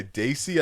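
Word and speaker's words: Dacey: it hold on by Daisy I think that's how you pronounce them d-a-c-e-y Hold On by Daisy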